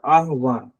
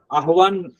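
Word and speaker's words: आह्वान: आहवान है के बाद आवान प्र जी आवाहन और आवान अलग अलग है ना उससे जड़ आवान आवान तो मैंने सुना नहीं है आहवान है एक शब्द है आहवान मतलब तरह से लोग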